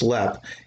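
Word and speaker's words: Leap: also precedes its reputation lead castle pronounced lep is the most haunted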